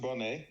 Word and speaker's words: Boney: you for joining um today we have bony did I say that right I pronounce it Bonet it is said bony so I don't take